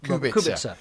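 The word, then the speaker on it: Kubica: KU Robert KU Robert it's not it's actually Robert kubit so um we're going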